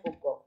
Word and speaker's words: Foucault: a los sujetos básicamente si foucauld se escribe lo tiene el escrito en el nombre de los vídeos y no se equivoca pero bueno se pronuncia poco es acá michelle fútbol